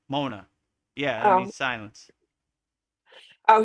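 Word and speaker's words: mauna: Mona mean it's spelled M A U N A. Mona.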